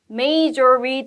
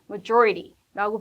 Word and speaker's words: majority: 단어인데 지금 소리를 몰랐어요 Major 뭐 이렇게 발음이 나는게 아니라 뭐예요 majority라고 발음이 나기 때문에 이거는 의미는 알아요